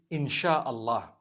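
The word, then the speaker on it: Insya Allah: They pronounce the SY the way we pronounce SH. So they can write it how they want, for as long as when people read it, they read it Insha Allah.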